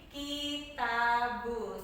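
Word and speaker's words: كِتَابُ: diberi tanda baca kasroh, jadi dibacanya ki. Ada huruf ta diberi tanda baca fathah di atasnya, dibacanya menjadi ta. Dan ada huruf yang ketiga huruf ba diberi tanda baca doma di atasnya, dibacanya bu. Jadi ketiga huruf ini jika digabungkan akan berbunyi kitabu, seperti itu seterusnya.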